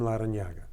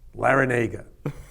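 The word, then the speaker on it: Larrañaga: I used to pronounce my name correctly, which is when I went to kindergarten, I was Jim Larranaga. But when I got to kindergarten, my nun at the Catholic school I attended, St. Helena's in the Bronx, she could not pronounce it correctly, so she said, Jim Larranaga. And that caught on, and everybody called me Larranaga, so there was no sense in fighting that.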